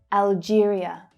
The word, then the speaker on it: Algeria: Algeria. It's the same stress pattern as Albania. Algeria. Algeria. It's the J consonant sound. Algeria.